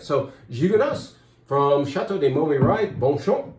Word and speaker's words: Gigondas: Gigondas. Some people will say, no, you don't say the S at the end, it's French. You do down there.